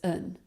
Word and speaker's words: and: For example, here's what happened when I correctly pronounced and as un, which is how native speakers would pronounce this word in normal speech, because according to the rules of English stress, and is always an unstressed word.